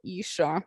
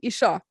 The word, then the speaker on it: Ircha: it's called Isha Gaming, as I say in Norwegian, Isha, You know, that's the original pronunciation. But, you know, Happy Console Gamer made it Isha.